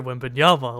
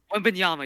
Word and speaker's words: Wembanyama: And if Yes, they and do get that, they're gonna get Victor Wembanyama.